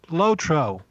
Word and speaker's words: LOTRO: of the Rings online so obviously it is pronounced lotro thank you thank you uh now I'm going